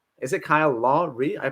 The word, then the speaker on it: Kyle Lowry: Kyle Lowry. Is it Kyle Lowry? I pronounce it Kyle Lowry.